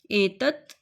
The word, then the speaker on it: एतत्: तो इसको हमने हल्का सा प्रोनाउंस करना है, मतलब आधा प्रोनाउंस करना है, स्वर सहित नहीं, स्वर रहित प्रोनाउंस करना है। प्रोनाउंस मतलब उच्चारण। इसका उच्चारण हमने स्वर रहित करना है। त नहीं बोलना है इसको, त। म नहीं बोलना, म।